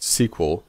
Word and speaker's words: SQL: say the database usually now SQL more commonly pronounced SQL and standing for structured query language that refers